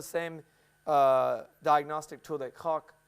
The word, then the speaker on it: Koch: is still the same uh diagnostic tool that Koch How do you say it right in German? Koch.